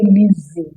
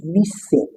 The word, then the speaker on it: listen: So you don't say listen, you don't say listen. It is listen.